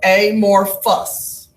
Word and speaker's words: amorphous: is what sounded English what's the pH sound it's an F sound so a more fuss alright amorphous this is